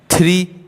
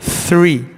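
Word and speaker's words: three: ठीक है, हम लोग थ्री बोलते हैं, थ्री इज़ नॉट a proper pronunciation, that is थ्री, क्योंकि इस फोनोग्राम का प्रॉपर साउंड है।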